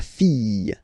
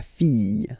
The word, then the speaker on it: fille: Okay, so this L here and E will give you the sound Y. La fille. La fille.